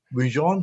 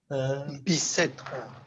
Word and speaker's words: Bicêtre: Jacques, who is the chair of the Vascular Center in Bujon. How you pronounce it in French? Bujon? Bicêtre.